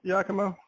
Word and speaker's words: Giacomo: Did I spell your name right, Giacomo? Yeah, you pronounced it perfectly, yeah.